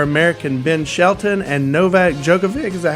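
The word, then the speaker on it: Djokovic: Uh first off, Wimbledon News at Wimbledon Jenn to the semi-finals with a win over American Ben Shelton and Novak Jookovic.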